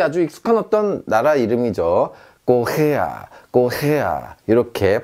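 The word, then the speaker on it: Korea: 꼬헤야, 꼬헤야 이렇게 발음하시면 되겠습니다.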